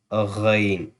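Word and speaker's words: غ: the middle throat, and Ghain will be from the upper throat, from the upper side of the throat, the throat near to the mouth. That will be Ghain, Ghain, Ain, Ghain.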